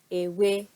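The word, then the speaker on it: ewé: E in Yoruba has the word ewe, ewe. Again, notice the intonation leaning towards the right in ewe, and ewe is leaf in Yoruba.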